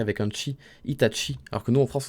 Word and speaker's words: Itachi: eu des hits hatchi et la raison ça s'écrit avec un cheese itachi alors que nous en france on a toujours